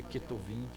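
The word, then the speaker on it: כתובים: É porque o Beit, né, é uma letra só, aí a gente pronuncia Ketuvim, ok?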